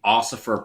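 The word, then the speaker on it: Ossifer: So, that would be Oifer Plum. Like a bone oifying oifer like Osiris.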